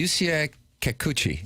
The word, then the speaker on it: Yusei Kikuchi: Doug, how do you pronounce the Yusei Kikuchi? Like that.